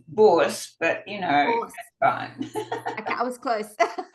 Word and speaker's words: Bource: the wonderful volunteer do I pronounce it is that how you pronounce your surname one it's boss but you know fine